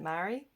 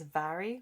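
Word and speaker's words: Mhairi: My mum's name is spelt this way, but she pronounces it Mary. But I know the traditional way is Vary, with the pronouncing it with a V. I believe the author pronounces it traditionally with the V, so it's Vary McFarlane.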